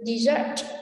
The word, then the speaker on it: dessert: Từ dessert, mặc dù nó là danh từ có nghĩa là món ăn ngọt tráng miệng ấy, thế nhưng mà trọng âm của nó lại là số 2.